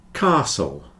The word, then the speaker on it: castle: a d card car Castle or cast Castle or Castle various pronunciations of the a depending on where you come from the more common English pronunciation is with a long Castle sound whistle and listen you